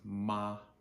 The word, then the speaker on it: ma: use is simply M-A, which is pronounced ma, just like your grandma. So M-A. M is pronounced just like M is pronounced in English. And then A is pronounced like A-H, like when you go to the dentist. And the dentist says, okay, open wide, say ah.